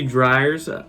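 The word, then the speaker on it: Dreyer's: At number 10, we have Dryers. I looked up the pronunciation. It should be Dryers.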